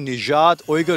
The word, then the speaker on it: Nejat Uygur: ये नाम भी मैंने थोड़ी मुश्किल से याद किया है, निजात ओयगर तो याद हो रहा था लेकिन निजात ओयगर इज द राइट इसका प्रोनाउंसिएशन।